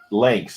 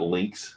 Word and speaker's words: phalanx: Phalanx. And It's actually, not it looks, Roman. Tacoma, it looks like you pronounce it better than we do. I had it right. Lanx, not links.